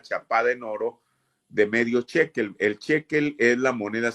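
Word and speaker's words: shekel: Hoy en día la moneda en Israel sigue siendo el ciclo, solamente que ahí localmente le llaman chequel, que para uno sería el ciclo. Bueno, ¿cómo se escribe?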